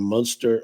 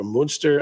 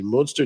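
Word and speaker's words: Münster: family his great-grandfather Clemens vaget uh hailed from monster moonster I was I was told how to pronounce that properly moonster Germany uh came to Indianapolis in 1851 and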